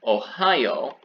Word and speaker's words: ohayou: u after it instead so instead of ohio right down here you have the y o and u so it has that hard o sound if you want to